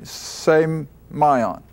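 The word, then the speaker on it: σημεῖον: Now that's the way I get the pronunciation from a Greek dictionary, semion.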